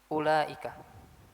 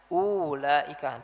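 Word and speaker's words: أولئك: Di sini banyak masih banyak yang bacanya ulaika. Enggak. Wau ini enggak dibaca. Wau ini tidak dibaca. Bukan dibaca ulaika. Di Albaqarah misalkan bukan bukan dibaca ulaika enggak tapi ulaika. Sini wya bukan huruf mad, bukan huruf mad. Dia bacanya ula.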